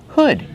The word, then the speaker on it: hood: Hood. Use the short uh sound like good. Hood. Not hood, but hood. Make that h sound like good. And wood.